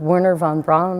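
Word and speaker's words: Wernher von Braun: would say i love warner von braun i think is how you pronounce his name's uh expression science is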